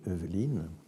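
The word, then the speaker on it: Heuveline: et lui, il l'avait, donc ça s'écrit H-E-U-V-E-L-I-N-E, Eveline, mais lui, il a expliqué d'une étrange façon.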